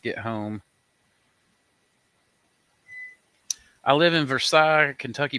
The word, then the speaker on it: Versailles: I live in Versailles, Kentucky. People here pronounce the L. Versailles? What'd you say, Samantha? Versailles? Is that how you say it? Samantha's family's from Kentucky. Well, it's Versailles.